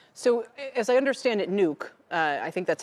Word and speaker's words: Nuuk: So, as I understand it, Nuuk, I think that's how you pronounce it, is a 4 and 1/2 hour flight from New York.